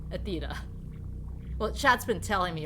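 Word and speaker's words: Aethyta: very important and now we know how to pronounce the bartender Sorry's name Athea well Chad's been telling me all this time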